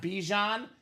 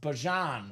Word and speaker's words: Bijan: Found out, apparently, Alex, it's not Bijan. He says it's pronounced Bijan Robinson.